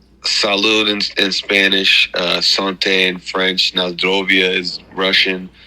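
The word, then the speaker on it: santé: they say salude Salud in in Spanish uh Sante in French NAIA is Russian slancha is Irish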